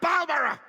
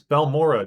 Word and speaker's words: Balmora: ALL THE WAY TO BALMER. To Balura? Did nobody tell this poor voice actor how to pronounce any words? It's Balmora, dude.